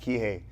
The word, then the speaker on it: Kihei: Checkmat Kihei.